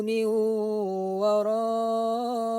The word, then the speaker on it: min waraihim: Cara membacanya tidak boleh jelas min waraihim, akan tapi bunyi nun sukun tersebut dimasukkan ke dalam huruf waw sambil didengungkan. Min waraihim.